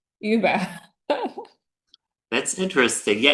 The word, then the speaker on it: Uber: And I was like, you're saying it wrong. It's Uber. But they were talking about the ride sharing app. I was like, Ah, everybody's saying Uber.